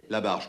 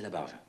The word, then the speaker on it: Labarges: Comme vous voudrez, monsieur Labarges. C'est vous qui décidez. Labarge, tout court. On ne prononce pas le S final. Ah, c'est Labarge.